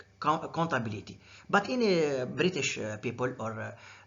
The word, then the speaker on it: comptabilité: In French, they write comptability with MP, but they pronounce MP with N, comptability.